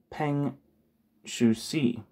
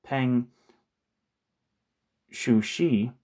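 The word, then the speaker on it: Peng Shuzhi: particularly the Ceylonese, was Peng Shuxi, the exile leader of the Chinese Trotskyist. One second, I want to make sure something. Make sure that's. Peng Shuji, I think is how you pronounce his name.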